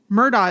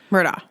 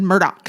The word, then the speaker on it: Murdaugh: it Alec instead of Alex yeah and then Murda is spelled m u r d o u g h right Murda but most people not all not everybody a lot of people said Murdoch Murdoch and I'm like I where where where is